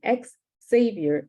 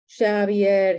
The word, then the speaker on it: Xavier: People comment on his accent, mispronounce his name, call him ex-savior as if he had fallen from grace and could not be redeemed. Xavier, he says, over and over. It's Basque, but they think Basque is a painter.